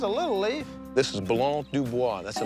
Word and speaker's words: Blanc du Bois: All these are Blanc du Blancs? Blanc du Bois. Blanc du Bois. Blanc du Bois. Blanc du Bois. Willie can't even pronounce the name of the grapes. It's Blanc du Bois.